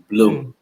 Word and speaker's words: Blum: to share with everyone the correct pronunciation for company name is bloom yes and I'll just